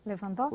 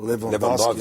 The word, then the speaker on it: Lewandowski: Lewandowski? Lewandowski. A pronúncia dele, eu tenho o maior respeito pelo ele, a pronúncia dele que não me atrapalha.